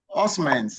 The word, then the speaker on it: Osman: Then we go to Osman's. Good afternoon. Good afternoon sir. Is your name does it pronounce Osman's orman's? Yes, it's Osman.